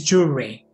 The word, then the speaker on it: jewelry: For example, how did you read this word? The real pronunciation is jewelry.